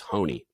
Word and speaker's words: Honea: Mick Pond and and I call him Honea all the time turns out his name's honey didn't know that I